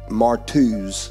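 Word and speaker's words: μάρτυς: uh comes from the word marty or is pronounced martuz is the correct way to pronounce this particular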